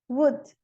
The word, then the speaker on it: would: O L não é pronunciado em cough, talk, could, should, would.